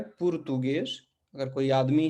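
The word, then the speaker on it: português: फिर एक बार देखिए, एस के आगे और पीछे दोनों तरफ वॉवेल्स हैं, तो ये क्या हो जाएगा इस स्थिति में? एस बदलकर ज हो जाएगा, पुर्तुगेज।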